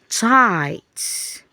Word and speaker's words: tight: So the GH is silent while we are going to hear the sound of only letter I. Okay? So here we have tight, tight.